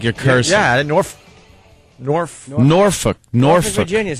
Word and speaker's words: Norfolk: I like to say Norfolk. How do you say it where it almost sounds like you're cursing? Yeah, Norfolk.